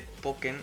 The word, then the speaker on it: Pokkén: hace alemán pero aparentemente poker se pronuncia igual que la palabra alemana lo que significa viruela